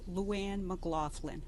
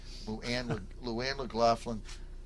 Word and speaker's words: LouAnne MacGlaughlin: LouAnne MacGlaughlin. Okay, LouAnne, and let's say her name right. LouAnne MacGlaughlin.